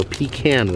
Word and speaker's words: pecan: But of course, probably the most classic, famous item here is the Stuckey's pecan roll, or pecan roll, depending on your choice of pronunciation.